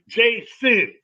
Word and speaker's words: JaSun: I was like, yo, my name is JaSun. Like, you know how you pronounce, hey, JaSun. You know what I mean? Like, JaSun, because I still be sinning.